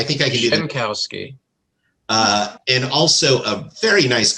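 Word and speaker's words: Grzankowski: Could you pronounce that name for me, please? Grzynkowski. Grzynkowski. Thank you. I think I can do that. Schenkowski.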